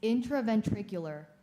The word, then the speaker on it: intraventricular: and bled into the ventricles of the brain intraventricular am i saying it correctly no it is intraventricular can you repronounce it intraventricular intraventricular intraventricular intraventricular that sounds